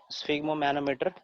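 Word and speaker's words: sphygmomanometer: ठीक है, स्फिग्मो मैनोमीटर, स्फिग्मो मैनोमीटर 3 syllable में पढ़ेंगे, स्फिग्मो मैनोमीटर, है ना। 3 syllable में खत्म करेंगे इसको।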